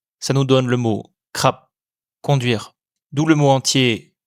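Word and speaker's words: ขับ: Comme il y a la fin de la syllabe, il se prononce comme un P final. Ça nous donne le mot krap, conduire.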